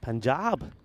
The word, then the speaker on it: Punjab: in BR it was panjab who were the winners I would say Punjab actually pu but uh panjab is how they had it spelled apparently it is spelled